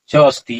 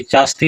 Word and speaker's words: च अस्ति: विशालम वर्तते बिहारस राजधानी च अस्ति यहां उच्चारण क्या होगा च अस्ति चा अस्ति नहीं होगा च अस्ति